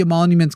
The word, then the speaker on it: emoluments: I think I managed. You did. Oh my God. I didn't add that extra N in there.